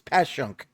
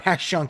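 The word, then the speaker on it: Passyunk: Like my dad says it with an H. He says Pashunk. Yeah. Pashunk Avenue.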